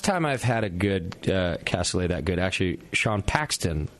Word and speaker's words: cassoulet: You can't pronounce it casually. What's the right way? It is cassoulet.